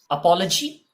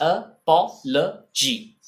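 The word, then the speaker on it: apology: माफीनामा इसका हिंदी में वर्ड होता है, लेकिन इसको बोलते हैं अपॉलजी। The pronunciation is अपॉलजी।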